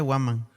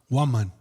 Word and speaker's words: Huaman: ¿Cómo se dice? Se dice Waman. Waman.